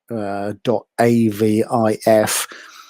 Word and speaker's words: AVIF: So AVIF is henceforth called Avif, as in Selavif.